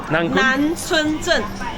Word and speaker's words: Nancun: This place is actually called the Nankun. Nanchunzhen. Yeah, that's the right pronunciation.